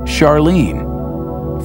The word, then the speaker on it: Charlene: Christie suggested the name Charon after the ferryman of Pluto's underworld in Greek mythology, but preferred to pronounce it Charon, more like his wife's name, Charlene.